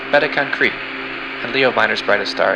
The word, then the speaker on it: Beta Cancri: Cancer's brightest star is pronounced Beta Cancri, and Leo Minor's brightest star is pronounced 46 Leo Minoris.